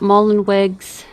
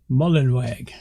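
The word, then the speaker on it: Mullenweg: bit talks about matt mullen wigs don't even say his name right mullenwag okay it talks about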